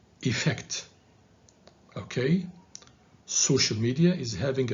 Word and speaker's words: effect: social and this word don't say effect because it's effect the stress is on the second syllable on the f so say effect okay social media is